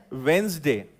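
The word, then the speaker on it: Wednesday: ज भी नहीं है ना, जब वो ज है, वेंसडे, है ना. मतलब अगर मैं उसको लिखूं तो वो ऐसा होगा, वेंसडे. ऐसा उसको हम एक्चुअली प्रोनाउंस करते हैं.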